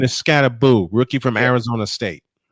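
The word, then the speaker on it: Skattebo: The correct pronunciation is Scatteraboo.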